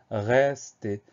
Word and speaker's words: rester: Alors, le mot rester, on a une première syllabe qui est ré, et on entend le son est. Mais le son est, il s'obtient en n'ajoutant rien du tout, pas d'accent sur le E, tout simplement parce que derrière ce E, il y a deux consonnes qui se suivent, le S et le T. Donc, automatiquement, on va prononcer ça rester.